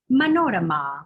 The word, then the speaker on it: Manorama: shares that and uh my name is pronounced manorama with the accent again on that last ah the oh and the